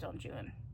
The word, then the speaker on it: Don Juan: It is pronounced Don Juan for the purpose of this poem, even though Spanish, okay, it's not. But in in this exact instance, he intentionally uh, anglicized it.